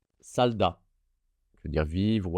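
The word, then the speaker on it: 살다: Et ensuite, le deuxième mot, la première syllabe, il y a un S, puis un A, puis un L. Donc, je lis bien consonne initiale, voyelle, consonne finale. Ça va être sal, S-A-L, sal. Et deuxième syllabe, D et A, da, salda.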